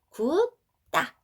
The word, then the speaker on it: 굳다: 된소리로 발음한다고 했습니다.